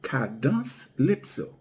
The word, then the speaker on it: cadence-lypso: In creole we pronounce it kados lipso.